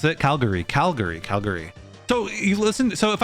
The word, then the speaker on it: Calgary: Calgary, you might say Calgary, where like there's that but in reality, I'm gonna pronounce it Calgary, where that gary at the end becomes a schwa, where like it's like basically unpronounced. So you can just release it.